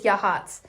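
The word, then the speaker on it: Yachats: Um, which is spelled like Yakit. It's so funny, but I think it's Yahhatz.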